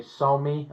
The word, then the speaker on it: SAME: This is one of the ones that was built by the same company, Somi, I think they pronounce it, but it looks like the word same in English.